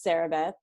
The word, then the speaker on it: Sarahbeth: it to sarah but it is definitely not sarah it's sarah beth and as my brother